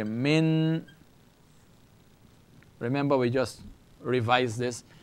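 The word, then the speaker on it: مِن: this noon has nothing so it's Min I n so it's the same letter noon this one is joined together with this because it is doesn't have a vowel the two of them pronounce together so you say Min the yah has no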